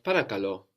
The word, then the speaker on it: παρακαλώ: We had παρακαλώ, which meant please. Παρακαλώ, σε παρακαλώ, please. Also the accent on the end.